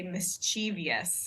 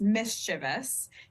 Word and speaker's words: mischievous: say a word like I tend to Say mischievous is how my pronunciation of the word mischievous that is not the standard pronunciation the standard pronunciation is mischievous and uh there are